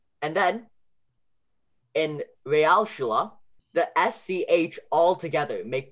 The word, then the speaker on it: Realschule: And then the U sound, Realschule, that's a U.